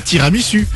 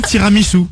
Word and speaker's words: tiramisu: Ce qui fait que je lui ai répondu simplement, alors premièrement, je n'ai pas faim, et deuxièmement, on ne dit pas tiramisu. On dit tiramisu.